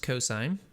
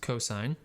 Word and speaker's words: cos: abbreviation is cos and it's still pronounced cosine even though it looks like cos it's not cos it's cosine and then the third